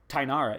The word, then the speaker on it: Tainara: I knew it was Ty Conti, not Tay Conti, because Tainara is how you pronounce her first name.